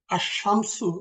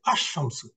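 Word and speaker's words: الشمس: the correct pronunciation is আস শামসু যেমন এখানে আসমসু আসলে শব্দটা ছিল শামসুন এর আগে আল বসার কারণে আর প্রোনাউন্সিয়েশন টা হচ্ছে আশামসু এখানে লাম অমিট হয়ে যাচ্ছে লামের উচ্চারণটা এই যে যে সমস্ত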